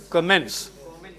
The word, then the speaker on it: commence: The word is pronounced commence. No, comment is different. Commence is different.